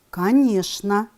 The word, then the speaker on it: конечно: с буквосочетания мече н пишем конечно произносим конечно пишем скучно произносим скучно